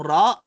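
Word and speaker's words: راء: Maaring sa ibang bigkas ay pwede siyang maging ganon at pag-aaralan rin natin to, pero alamin natin itong ra ay makapal. Ra. Parang lumulobo yung ating bibig.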